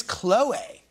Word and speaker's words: Khloé: i'm pronouncing her name we're all been pronouncing her name wrong this whole time it's chloe chloe is the name there's a little accent over the name wait what wait wait